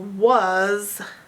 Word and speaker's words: was: And the sound in the middle, was, is the sound is an A, not a U. So this is the part you have to learn by heart. And if you pronounce this with a Z, you also have to learn that part by heart.